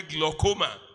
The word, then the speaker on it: glaucoma: kills the body silently that is the way gloma it is spelled g l a u c o m a gloma glaucoma is the hypertension of the eye